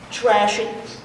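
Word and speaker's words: thrash: Trash. T-H-R-A-S-H. Trash. And trash. That's the H is silent.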